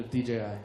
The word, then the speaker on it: DJI: It's G. It's G. It's no, DJI. DJI. Sorry.